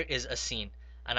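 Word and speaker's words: سين: Now the next letter is a sin, and I call this sin also a smiley letter because when you pronounce it, you have to smile with your teeth. So when you say this letter, smile with your teeth while you are saying it.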